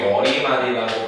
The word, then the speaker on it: 머리말: 그래서 정확한 근거가 없는데 이 대표적인 사례들을 한번 보면 머릿말 같은 경우 우리가 거의 머리말이라고 발음 안 하고 머릿말이라고 발음하지만 얘 같은 경우에는 어때?